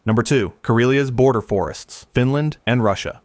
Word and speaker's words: Karelia: Number two, Karelia's border forests, Finland and Russia.